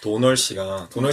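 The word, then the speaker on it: Domhnall: 그게 콜린 파렐 나오는 건데, 그리고 랄프 파인즈가 나오고, 그리고 돔놀 글리슨의 아버지 브렌단 글리슨이 나오는 이 세, 도놀이라고. 네. 도널이라고 해야 돼요. 돔놀이 아니라. 왜요? 원래 발음이 그렇게 하는 거래요.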